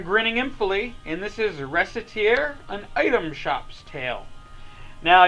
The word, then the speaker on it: Recettear: But I've always heard it pronounced as Recettear, and kind of conventional English spelling wisdom would suggest to us that a C between two E's is going to make a S sound.